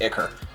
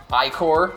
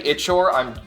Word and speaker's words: ichor: Like, I know its legitimate pronunciation is Ichor. Icor, I've also heard. It's, if you say Ichor, I'm judging you harshly.